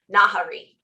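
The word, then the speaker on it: Nahri: say figure out how to say her name nahari oh okay um yeah not harry well and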